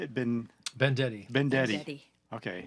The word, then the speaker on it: Bendetti: Bendetti. Bendetti. Okay. Like vendetta. Vendetta. But Bendetti.